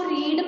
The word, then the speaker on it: read: लेकिन हम इसको रीड पढ़ते हैं, और हम इसको रेड पढ़ते हैं, और इसको भी रेड पढ़ते हैं, भले स्पेलिंग तीनों की सेम.